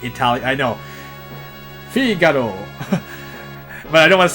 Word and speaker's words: Figaro: And yes, Figaro is how you would pronounce it. I'm using the Western pronunciation for now, but I guess I could have said Figaro.